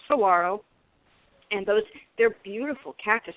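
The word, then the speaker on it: Saguaro: if you had some I hear people saying sagaro and because it has the G but it's pronounced Saro and those they're beautiful Cactus and they're most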